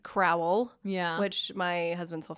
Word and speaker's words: Crowell: It looks like Crowell. Yeah. Which my husband's whole family says Crowell, so it's pronounced like K-R-O-L-L.